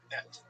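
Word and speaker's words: את: Bereshit bara Elohim es hashamayim ve'haaretz. So Bereshit bara. So in the beginning, he made, namely God, what? Es, et. Let me check my pronunciation to use correct academic Hebrew. Et.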